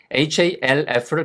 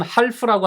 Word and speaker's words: half: half를 가끔 half라고 하시는 분들이 있는데 아니에요. 얘는 묵음입니다. 소리 안 나요. 그래서 half예요.